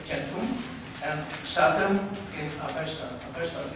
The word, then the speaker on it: centum: The 2 terms come from the words for the number 100, centum in Latin, pronounced centum, and Satem in Avestan.